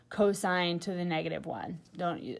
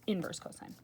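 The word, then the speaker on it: cos⁻¹: By the way, just FYI, when you say this, you never pronounce this cosine to the -1. You always pronounce it just inverse cosine.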